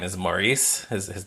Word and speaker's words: Maurice: I believe his first name is Maurice. His His name is Maurice Mikwhite. I think it's Morris. I think it's like, you know, Maurice is sometimes pronounced Morris.